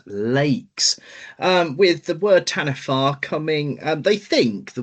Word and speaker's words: Taniwha: marau legend called the Tanifa. Not Tani. Well, it's it's spelled Tani, but according to what I found, it's pronunciated as Tanifa, which sounds very Welsh.